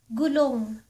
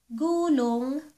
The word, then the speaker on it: gulong: And our fifth one, last one for tonight, gulong. Gulong. Gulong. Gulong means tire. But if you pronounce the word gulong, gulong, it means roll over.